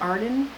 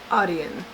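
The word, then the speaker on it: Audien: And it is it pronounced Arden? Audion. Audion. Audion hearing.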